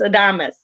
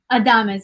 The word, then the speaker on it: Adames: instagram and i said i said your last name wrong so it's adamus adamus yes yes yes okay